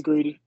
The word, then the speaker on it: Greedy: If not, then what we'll do is we'll go to, is it Greedy? I feel like I'm saying it wrong. Yes, it's Greedy.